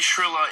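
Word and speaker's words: Shirilla: Mackenzie Shrilla is the correct way to say it.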